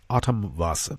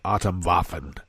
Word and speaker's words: Atomwaffen: Oh, I should note, when you see this word, Atom, it's V-A-F-F-E-N. In German, those 2 F's are pronounced S. Atomwaffen, not Atomwaffen.